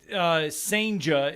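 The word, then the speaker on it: Senga: Yeah, Senja is how you say his last name.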